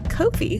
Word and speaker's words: Ko-fi: You can donate or subscribe through our new Ko-fi, where you can buy us a coffee.